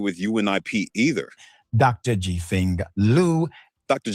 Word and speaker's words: Liu: Jifeng Liu. Dr. Jifeng Louis definitely doesn't exist because that family name is spelled Liu. You'd think an investigative firm wouldn't make that mistake.